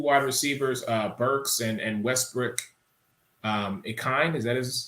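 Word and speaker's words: Ikhine: Now, your other two wide receivers, Burks and Westbrook, Akine, is that how you say it? Akini.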